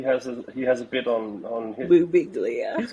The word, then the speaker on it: Birbiglia: Mike Birbiglia, he has a bit on his. Boo Biglia.